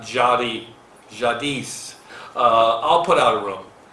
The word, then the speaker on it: Jadis: And for everybody, it's pronounced Jadis, not Jadi, Jadis.